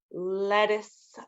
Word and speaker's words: lettuce: Lettuce. We don't really pronounce the T's very much in that one.